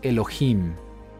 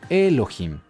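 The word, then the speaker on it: אלהים: sílaba fuerte es decir se acentúa al final de la palabra por eso leemos Elohim y no leemos Elohim Bueno quiero comentarte algo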